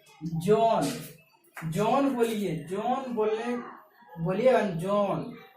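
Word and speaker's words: John: अब उसके बाद जो है जॉन, जॉन बोलिए, जॉन बोलिएगा जॉन, जॉन, जो के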